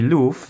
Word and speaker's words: Luffwatchstrap: I believe the correct pronunciation should be Luff, as it seems like they are paying tribute to the ever so popular One Piece character Luffy.